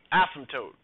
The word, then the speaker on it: asymptote: is the new word asymptote okay no P or p is silent the atom the asymptote